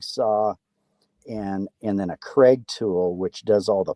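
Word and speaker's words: Kreg: saw a jig saw and and then a Craig tool which does all the pocket screws that's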